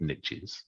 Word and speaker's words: niche: When I say one niche, I've got a couple of niches. Yeah. And I can use the American niche. I said this before because it rhymes with rich, right?